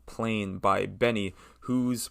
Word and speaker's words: BENEE: Next song I want to talk about is called Plain by Benny, whose pronunciation, after multiple instances of mispronunciation, I am finally getting right. And it's, I've tried it, Benny or Benet, whatever. It's Benny, Benee, Lily Allen, and Flo Milli.